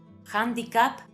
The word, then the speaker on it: hándicap: Aunque en español la "h" no se pronuncie, en algunas palabras procedentes de otros idiomas es habitual pronunciarla como una "j" aspirada. Algunos ejemplos son "hámster", "hándicap", "Hawái" o "Sáhara". Primero, vamos a ver en